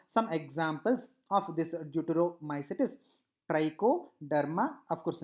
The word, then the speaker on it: Trichoderma: Now some examples of this deuteromycetes: trichoderma.